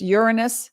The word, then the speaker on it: Uranus: here looky looky we have sun and taurus uranus that's how it's pronounced in taurus north node in taurus mercury